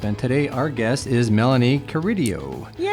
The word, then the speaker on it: Melonie Carideo: And today our guest is Melanie Curidio. Yay. Did I pronounce that right?